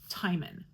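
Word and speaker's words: Timon: I have gotten I have gotten a confirmation that this is pronounced Thyman.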